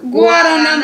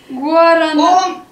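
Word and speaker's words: guaraná: Гу, гуарана. Ком самбиняс и мадиняс абакате витамате гуарана. О, подождите. Гуарана, вот здесь нет окончания. Гуа. В оригинальном тексте там стоит ударение на последнее А.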